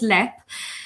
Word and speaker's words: Leap: pictures of the the castle and we put mispronounced as leap but it's pronounced yeah it's actually pronounced let